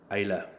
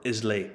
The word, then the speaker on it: Islay: of refined peat monster of isla or islay if you're from uh a really cheap tourist company this is lagavulin is